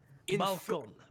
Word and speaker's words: balcon: Balcon. Is it just projector? Siege. Defender attack you. Projector balcon. So it has no Y. It's projector balcon. It's just balcon?